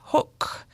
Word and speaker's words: Hoek: Smoke-Free with Professor Janet Hoek. Rhymes with book.